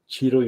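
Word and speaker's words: Ciro: I'm surprised the streets doesn't actually know that Cheeto Immobile. That's how you pronounce his name.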